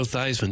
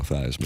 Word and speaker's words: Theismann: Joe Theismann did that to rhyme his name with Heisman. My understanding is that was more the Notre Dame officials. I don't think that was my biological father, Joe Theismann. Yeah. Theismann. Yeah, I pronounce it Theismann, too.